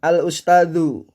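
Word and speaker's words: الأستاذُ: Perhatikan, karena di sini ada al, ini al, maka bacanya adalah al-ustadu.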